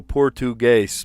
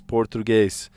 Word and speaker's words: Portuguese: And uh yeah, if you know Portuguese, Portuguese, it's three syllables.